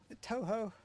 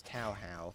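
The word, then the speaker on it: Touhou: Toho? I've heard one person pronounce it as Tauhao, but every time I hear that, it just doesn't sound right.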